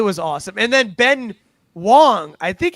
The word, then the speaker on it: Wang: And then Ben Wong. I think it's Wong. It's it's spelled W A N G, but I think it's pronounced Wong.